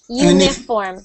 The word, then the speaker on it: uniform: Uniform. Uniform. Good. Uniform. Good, good. And also, we don't say uni, we say uni. We pretend there is a Y at the beginning.